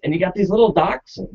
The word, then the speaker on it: Dachshund: breeding this dog and it's known or it's doxin and that's how you would proun pronounce it from a German perspective u means